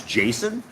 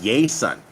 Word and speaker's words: Jason: country my name is Jason when I came down here people don't know how to say my name they call me yay son right because Jay's don't have that J sound there's no such thing